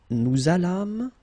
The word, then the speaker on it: nous allâmes: Okay, so remember that you should make this little link between the two.